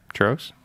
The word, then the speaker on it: Trogs: Yeah, Trogs.